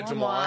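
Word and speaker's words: DeuxMoi: Yeah, Demois.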